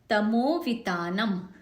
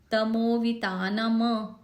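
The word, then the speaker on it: तमोवितानम्: मुद्योतकम दलित पाप तमोवितानम, म एंड वाला जो म है आखिरी वाला वो हलंत है, आधा है, तो तमोवितानम, तमोवितानम ऐसे नहीं करेंगे। जैसे कि मैंने बताया था हलंत आधा है, उसका उच्चारण आधा ही होना चाहिए।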